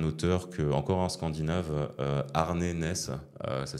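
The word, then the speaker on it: Arne Næss: avec là un auteur que encore un scandinave ARN NES ça s'écrit a R n e n a e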